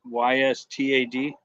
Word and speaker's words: Ystad: YSTAD.